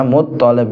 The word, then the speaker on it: Muthalib: Abdul Muthalib, bacanya Muthalib nggih, toke sing ditasdid nggih. Muthalib, boten Muthalib tapi Muthalib. Lah Abdul Muthalib niki sinten asmine?